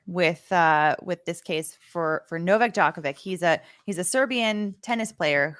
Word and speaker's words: Djokovic: so for anyone that is less familiar with this case for Novak Djokovic, he's a Serbian tennis player who by the way, are we saying this good?